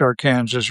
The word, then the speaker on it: Arkansas: A haphazard Hamlet bounded on the south by a brown stretch of the Arkansas, pronounced Arkansas River, on the north by